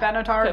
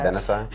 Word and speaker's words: Benatar: It sounds like Pat Benatar, but it's Pat. Benatar. It's Pat Benatar. It's just Pat Benatar.